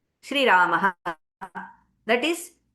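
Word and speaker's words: राम: So in the north, it is Ram. Sanskritam, it is Rama.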